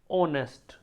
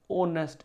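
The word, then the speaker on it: honest: बहुत ईमानदार very ऑनेस्ट एच ओ एन ई एस टी ऑनेस्ट इसको बोला जाता है। एच से साउंड होता है लेकिन एच साइलेंट रहता है। तो ऑनेस्ट इसको बोला जाता है।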